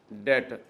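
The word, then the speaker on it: debtor: inventory भी कहते हैं फिर डेटर जी इसमें बी साइलेंट होता है डेटर बी साइलेंट है डी ई बी टी ओ आर डेटर इसको ट्रेड रिसी वेबल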